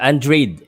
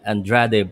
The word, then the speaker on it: Andrade: much guys andre yeah andreid is how you pronounce it i've been pronouncing it that andrade but uh um i've been hearing the the commentary and um the commentators are saying android not andrade shout out sir pal